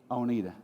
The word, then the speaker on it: Oneida: So we've taken a deep dive with Oneida, depending on, where you put the syllable on the word. So I still don't know how to pronounce that yet. How is it, Dr. Parks? How do you? Oneida.